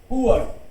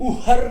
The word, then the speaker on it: Uhr: उअर right, H silent रहता है बीच में, इसलिए हम लोग उहर नहीं बोल रहे, उअर उअर.